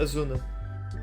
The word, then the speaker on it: Asuna: o agente que estava apaixonado pelo Design da asuna asuna asuna é assim se pronuncia que sim mas estou Cid eu acho